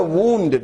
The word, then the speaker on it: wound: W-O-U-N-D is pronounced as a wound. Second one, he had a mechanical clock. It had to be wound. Spelling is the same, but it is pronounced as wound. The first one, it is wound.